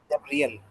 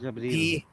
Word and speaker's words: जबरील: जबरियल, जबरियल भी, जबरील। जबरियल भी है, नहीं यह नहीं है, ई ही है, ई की साउंड है, जबरील।